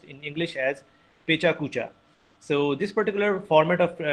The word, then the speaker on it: pecha kucha: two Japanese words which are written, which are pronounced in English as pecha kucha.